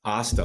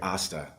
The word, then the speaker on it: Asta: And one day somebody had said to me, Asta, like pasta.